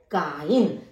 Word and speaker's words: kein: MEIN यानी mine, ZEIT जाइट, KEIN काइन। तो इसका उच्चारण EI का उच्चारण होता है आई।